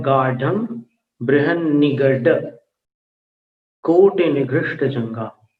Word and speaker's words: गाढ़ं: दूसरी पंक्ति में गाढ़ं गाढ़म नहीं बोलना, गाढ़म, ढक्कन वाला ढ बोलना है। दृढ़ वाला नहीं बोलना, जो नीचे बिंदी होती है वो उच्चारण नहीं करना है। गाढ़म।